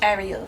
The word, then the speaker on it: Ariel: my name what's up guys it's AR it's Ariel listen my name is Ariel a to the